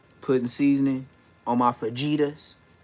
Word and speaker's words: fajita: Like I said, putting seasoning on my fajitas. Say it like an American, fajita. It's not fajita, but I feel you though.